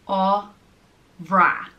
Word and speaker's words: Ámhra: The next name is Ámhra, and it means very wonderful or noble, distinguished person, and it's pronounced Ámhra, Ámhra.